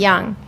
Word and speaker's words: Jung: The last name is spelled Jung. Okay. However, it's a soft J. It's a European pronunciation, so it's Young.